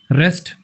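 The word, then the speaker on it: wrest: रेस्ट आर ई एस टी वाला रेस्ट नहीं डब्ल्यू वाला रेस्ट।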